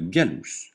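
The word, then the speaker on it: gallus: cheval kerous le SER le G se prononce gu comme dans gorille jamais je comme dans singe exemple galous le coq le J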